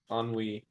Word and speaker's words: ennui: Ennui.